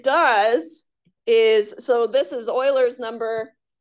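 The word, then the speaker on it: Euler: is so this is Oiler number I only mentioned how to say his name so you don't sound like you don't know what you're talking about Oiler is how you say it um so e is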